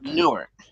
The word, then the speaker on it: Newark: D New York or nework Newark how to pronounce it Newark Newark that's how you say it gotcha give